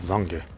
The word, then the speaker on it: Zange: Zong Eraser. I think it's interesting he pronounces it Zange.